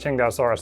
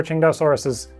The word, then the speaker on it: Tsintaosaurus: I'm still going to say it Tsintaosaurus though, because now I'm in the habit.